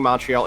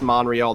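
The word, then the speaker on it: Montréal: uh oh i'm sorry i yeah you're right i keep saying montreal it's monreal there's no tea in there apologies to merlin who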